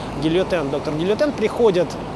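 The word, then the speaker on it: Guillotin: Там даже есть такая сцена, когда этот самый Гильотен, как он произносится по-французски, да, Гильотен, доктор Гильотен, приходит к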